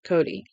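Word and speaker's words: Cote: other hand there was Mrs cot pronounced Cody oh Mrs cot okay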